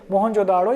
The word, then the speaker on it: मोहनजोदड़ो: कहाँ से मिला है हमको ये, मोहनजोदाड़ो या मोहनजोदड़ो, दोनों नाम हम प्रोनाउंसिएशन यूज़ कर सकते हैं हमारी चीज़ों के लिए, नो इश्यूज दैट्स हियर।